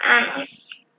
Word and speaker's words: años: Tengo 10 años. Can you say años, Mercedes? Años? Años. Muy bien. There's almost like an N and then a Y after it in sound when you see that little ñ sign.